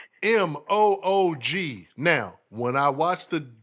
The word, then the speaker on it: Moog: a battle but like m-o-o-g now when i watch the documentary on dr robert he pronounced it moog but of course with the moo most people say moog but anyway doctor doctor